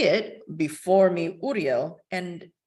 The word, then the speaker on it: Uriel: __ ] weird right and I'm pronouncing it that's the traditional Hebrew way of pronouncing it so you say it before me Uriel and right after you